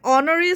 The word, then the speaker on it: honorary: So an honorary secretary gets no salary for holding the post. Yes, H-O. H-to ইয়াত silent হৈ আছে. H-to silent হৈ আছে আৰু pronunciation O পৰা কৰিছে.